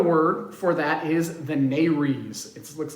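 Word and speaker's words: nares: nostrils or another word for that is the Nerys it looks like it's the way it's spelled it's like Mayor's na re s but it's pronounced Nerys and that's just a fancy name for your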